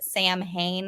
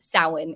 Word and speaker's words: Samhain: it halloween back then instead they called it samhain all right now when it's spelled out there i know it does kind of look like the word samhain there but that's actually pronounced samhain in their language now today we see that